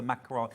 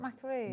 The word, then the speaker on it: macaron: Clover oce is that you say macaron macaron it's not macaroon no wrong all we were all saying it wrong for many years calling it a macaroon oh yeah macaron macaron